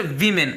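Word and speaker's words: women: अब इसका प्रोनाउंसिएशन क्या होगा, वीमेन, ठीक है ना। देखिए जैसे हमने इसको ए को ए से यानी ई से रिप्लेस किया तो इसका प्रोनाउंसिएशन भी चेंज हो गया, इसका तलफ़ुज़ भी चेंज हो गया। ये था ऊपर वुमेन और ये बन गया आपका वीमेन, ठीक है ना।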